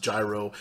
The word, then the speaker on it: gyro: And for those of you that don't know what a gyro is, a lot of people pronounce it gyro.